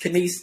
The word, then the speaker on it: Canice: So yes, Canice. I know it look weird, but it's spelled like can ice.